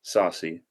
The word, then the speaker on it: Saucy: about who Saucy is your name supposed to be pronounced Saucy or sassy okay it is Saucy okay there is a